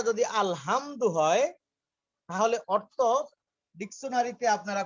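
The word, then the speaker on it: الحمد: সূরা ফাতিহার প্রথম যে লফজটা আমাদের সকলের মুখস্থ, আলহামদু, এই আলহামদু পড়তে হা যে হরফটা, এই হরফটা সিরিয়ালে জিমের পরে হা, এটা হলক থেকে আমাদের কণ্ঠনালীর মাঝখান থেকে উচ্চারণ করতে হয়।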